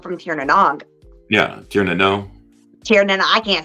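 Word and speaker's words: Tír na nÓg: Yeah, Tir na Nog. Tir na Nog, I can't say it right. I'm from Texas. It's the Nog is actually pronounced no.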